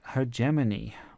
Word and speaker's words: hegemony: Other terms that would be like this would be terms like "hegemony" or as some people say hegemony .